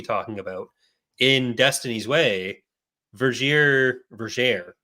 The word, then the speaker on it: Vergere: And there's actually in the book that we were supposed to be talking about, in Destiny's Way, Vergere, it's actually pronounced Vergere.